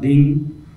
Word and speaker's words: Dhing: Similarly in the bass hide the open stroke is pronounced as Ghẽn or Dhing and the damp stroke is pronounced as Kha or Khat or Jhin.